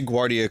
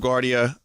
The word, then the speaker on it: Guardia: masamune so that yeah I say Guardia cuz again the Guardia airport it's spelled g u l a g u a r d i a so I just I'm used to it that way but um yeah so